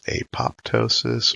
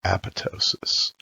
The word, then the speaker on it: apoptosis: Hello, today I'm going to discuss the topic of programmed cell death, otherwise known as apoptosis or apoptosis.